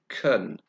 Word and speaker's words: can: guests can receive visitors now notice I said Kern so in affirmative can becomes the weaker sound couldn't say that again